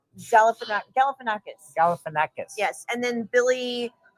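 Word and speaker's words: Galifianakis: Galif Galifanakis.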